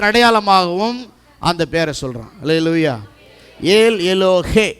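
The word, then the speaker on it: ஏல் எலோஹே: அந்த பேரை சொல்றான் அல்லேலூயா ஏல் எலோகே எலோகே இல்ல அப்படி பாடக்கூடாது இங்கிலீஷ்ல ஏல் எலோகேன்னு இருக்குது தமிழ்ல மட்டும் படிச்சிட்டு தமிழ்ல எழுதி பாடக்கூடாது இங்கிலீஷ்ல எப்படி இருக்கு உச்சரிப்பு கரெக்டா சொல்லணும் ஆமென் இன்னைக்கு ஸ்டைல் ஆயிப்போச்சு ஏல் எல்லோகே அப்படி எல்லோகேல் கிடையாது எல்லோகே ஏல் எல்லோகே இஸ்ரேல் பார்த்தீங்கன்னா அவன் என்ன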